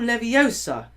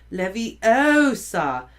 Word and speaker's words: Leviosa: more luck when guardian Leviosa he shouted waving his long arms like a windmill you're saying it wrong Harry heard Hermione snap it's wingardium Levy Osa make the car nice and long you do it then